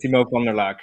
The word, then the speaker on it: Timo van der Laak: You did pronounce my name correctly. Awesome. I'm Timo van der Laak, indeed.